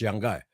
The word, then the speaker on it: Yanga: Sabi niya, ganun daw ang bigkas, Yanga.